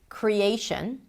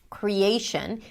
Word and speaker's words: creation: So if we take the word creation, creation. Here we have three different stresses: primary, secondary, and weak, the schwa. The A is the primary stress.